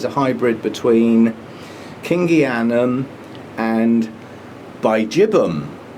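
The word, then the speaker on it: bigibbum: And Berryoda is a hybrid between Kingianum and Bijibum. I heard an Australian say it properly, Bijibum. I still like Biggie Bum. Anyway, it's a taste thing. Apparently it's pronounced Bijibum.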